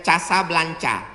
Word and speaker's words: Casablanca: Ibu kotanya tulisannya Casablanca. Cara bacanya Casablanca.